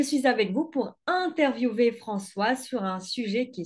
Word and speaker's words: François: Ça se prononce François comme français.